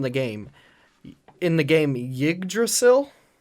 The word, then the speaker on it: Yggdrasil: game in the game Yggdrasil it's kind of hard to pronounce because it's ygg d Ras il mm-hmm so so my